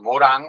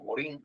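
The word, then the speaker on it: Edgar Morin: Porque si nos nos vemos la proposición que hacía Edgar Morán o Morín, si lo pronunciamos en castellano, él decía que hay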